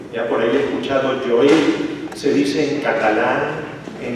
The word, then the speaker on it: Joel: y dos del profeta Joel en castellano por si acaso se dice Joel ya por ahí escuchado Joel se dice en catalán en inglés no en otras lenguas pero en castellano se dice Joel Entonces el primer los